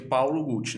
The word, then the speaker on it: Paolo Gucci: Paolo Gucci né que em italiano se pronuncia Paolo Gucci né e eu gostei